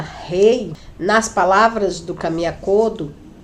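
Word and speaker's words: 礼: A cortesia, que é pronunciada rei, nas palavras do Kamiya Kodo, seria da seguinte forma: samurais, eles não têm razão para serem cruéis.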